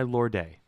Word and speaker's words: Lorde: music and lyrics by Lorde. Lorde? I like pronouncing her name Lorde because there's a fucking E at the end.